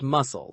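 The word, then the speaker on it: musl: And yes, it's pronounced muscle, like the shellfish.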